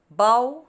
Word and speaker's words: bow: maria placed a red bow on the birthday gift here the meaning of this bow is a decorative ribbon and it rhymes with the word so bao how bo so number